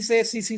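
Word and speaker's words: tsetse: ट्राइपनोसोमियासिस है टी से सीसी फिलाई टी वाला वो टी साइलेंट होती है उसमें बट सीसी फिलाई टी से स्टार्ट होता है और लेस्मिनियासिस में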